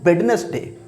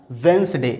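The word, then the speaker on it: Wednesday: school में पढ़ने हैं वो इसको पढ़ने हैं बेडेंस दे जो की इनकरेक्ट है टोटली इनकरेक्ट है बेदीनेस दे इसको ना पढ़ के इसको पढ़ा जाएगा वंस दे इसमें दी जो है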